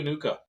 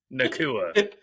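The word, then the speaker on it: Nacua: and then Puka Nuka. Dude, I love Puka. I know I said his last name wrong, but Nakua. yeah, Nakua. Puka Nuka.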